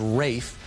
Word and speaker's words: Ralph: Italy with a fellow whose name is spelled Ralph and pronounced Rafe, and who's played by the ever-suave Antonio Banderas. Peter stalks this Rafe to Milan, where they play some very tense games of chess.